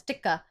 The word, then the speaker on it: tikka: But if I was like, hey, it's not chicken tikka masala, it's tikka, they'll be like, no, they wouldn't listen.